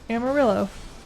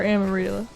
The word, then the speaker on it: Amarilla: And that's why I name every Pikachu that I ever get Amarillo. Or Amarilla. Amarilla. With a A. It really hurts my brain to mispronounce Spanish.